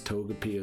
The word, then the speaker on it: Togepi: It probably is Togepi as well. It is Togepi, like a long E at the end.